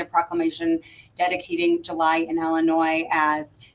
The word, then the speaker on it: Illinois: on over in in Illinois over there. Oh gosh, I also I love that you say Illinois with an S. The S is silent, right? Ah, okay. Illinois.